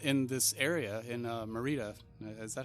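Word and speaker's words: Maridia: in this area in Merida. Is that how you say it? I forget. Meridia? Meridia.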